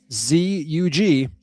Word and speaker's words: Zug: It does say American pronunciation here, though. And it goes, Well then, Zug. Zug. Zug. It's So let's see. Let's see. Oh, but they also have the British pronunciation.